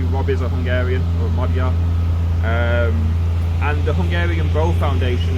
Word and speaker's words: Magyar: It's a 9th, 10th century Magyar bow, or a Magyar bow as we would pronounce here in England for English speakers.